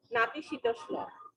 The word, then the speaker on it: নাতিশীতোষ্ণ: নাতিশীতোষ্ণ, উচ্চারণটা হবে কি? নাতিশীতোষ্ণ।